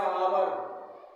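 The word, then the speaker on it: hour: हा पढ़ेंगे क्या नहीं इस एच को नहीं बोलना है एच साइलेंट है इसका हो जाएगा आवर आवर मींस घंटा एओ एन ओ य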